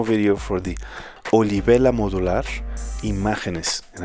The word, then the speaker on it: Imágenes: for the oliibela modular imageness and i'm pronouncing it like this because this is the first module from argentina that i've ever gotten to review this one